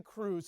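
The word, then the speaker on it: krewes: And when I say crews, it's spelled with a K.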